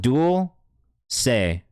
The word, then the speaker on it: Dulce: It said Dulce right there. At the bottom. Pronounced Dual Say.